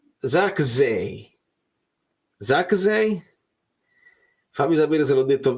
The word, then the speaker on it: Zirkzee: La pronuncia di Zirkzee è Zarkzee, con le Z molto leggere, se mi interessa tantissimo. Allora, Zee è una E, quella là, perché è una E al contrario. Z leggere. Zarkzee.